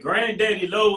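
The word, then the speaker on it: Grandaddy LO: All right, Granddaddy Low is spelled with one D in the middle because I am country as hell. You know what I'm saying? So we in the country we say grand instead of grand. So Okay. that's the way it's spelled like that for everybody who wants to know.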